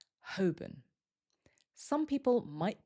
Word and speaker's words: Holborn: This one looks like Holborn, but we don't usually hear the L, and the second syllable becomes weaker, so it usually sounds more like Holborn. Holborn.